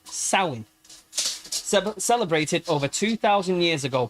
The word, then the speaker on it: Samhain: The origins of Halloween trace back to the an ancient Celtic festival of Samhain, pronounced Samhain, celebrated over 2,000 years ago, primarily in the region now known as Ireland, Scotland, and northern France.